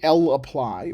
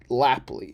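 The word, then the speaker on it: lapply: we're gonna work with L apply and S apply a lot more and so here is the L apply function and you want to make sure to say l apply Or List apply I had a friend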